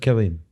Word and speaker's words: Cillian: But it's always pronounced Killian if it's Irish.